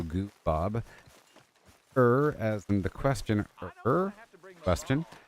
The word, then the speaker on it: Goob: It's pronounced goo as in goo baby, and then Bob as in the name, so Goo Bob.